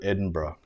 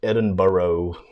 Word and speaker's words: Edinburgh: with permission there's a Facebook page called old Edinburgh or that's mispronounced Edinboro food my American friends just Jake and it's